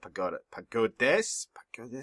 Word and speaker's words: pagodes: In French, you never pronounce the last letter. So in this case, it's S, but since the previous letter is E, you don't pronounce it either.